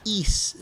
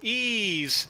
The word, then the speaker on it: Ys: East. The Ark of Nepishtim. Oh, Ease. Yeah. That's how you pronounce it.